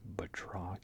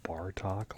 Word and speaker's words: Batroc: Let me see, Batroc here, who I mispronounced his name wrong for years. I thought it was Bartok, like the bat from Anastasia, but I was mistaken.